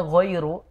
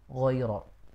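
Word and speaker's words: غَيْرُ: Saya agak kurang jelas tadi harusnya giriru yang jelas yaika'dun girirzub. Jadi giriru bukan giro ya kurang teliti di situ.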